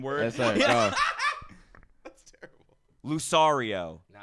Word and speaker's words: Lucario: Lucario. No, it's Lucario. Lucario. Oh, I'm doing the Italian version. Yeah. Lucario. Lucario. That's Lucario. It's pronounced.